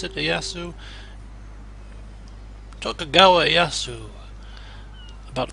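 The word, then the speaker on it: Ieyasu: Iyasu, they pronounce it, Iyasu.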